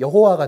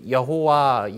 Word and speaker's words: 여호와: 아도나이 있는 되잖아요 그래서 아도나이 모음을 갖다가 찍어 놓습니다 그걸 갖다가 그대로 그 여기이 야회 있을이 하느님 이름에다 넣어 가지고 대입 그대로 대입을 해 가지고 읽으면 여호와가 돼요 그래서 이제 이걸 갖다가 그 여호와 여호와 뭐 이렇게 발음을